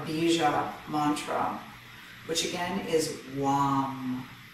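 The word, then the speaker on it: vam: mantra which again is wom it's spelled with a v v-a-m but it's pronounced long and i invite you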